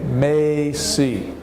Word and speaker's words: Macy's: find a Macy's and it's a long a Maisie Maisie big famous department store